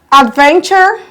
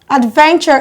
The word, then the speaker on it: adventure: literature furniture architecture e2c however adventure expenditure debenture and investiture as choice on the second syllable from the beginning that is we have one two adventure is traced on then and not on the first syllable so we add adventure expenditure